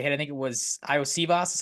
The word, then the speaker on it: Iosivas: I think it was Iosivas is how you say that guy's last name.